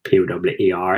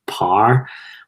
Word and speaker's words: power: would normally say par p-o-w-e-r in belfast is pronounced par whereas and some people